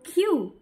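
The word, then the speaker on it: queue: Do you know Q, Q-U-E-U-E is the only English word which is pronounced by the first letter of the word Q?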